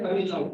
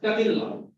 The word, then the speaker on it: Tamil Nadu: Indian pronounce the word Tamil Nadu as a Tamil Nadu. Just like Hindi. But it is Tamil Nadu. This is not ta, but it should be ta.